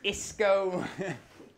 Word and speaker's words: Isco: Rhymes with disco. Is Isco. Just take the D off disco, man.